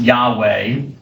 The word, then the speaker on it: Yahweh: Scholars have kind of back-engineered it, and they think it probably should be pronounced Yahweh.